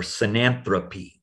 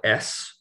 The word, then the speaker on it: synanthropy: The word is synanthrop or synanthropy. And you spell it synanthropy, or it can have an E there if you're talking about the critter.